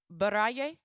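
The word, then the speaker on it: Baraye: The song Barah Baray. Am I saying it correctly? Anybody? Baray.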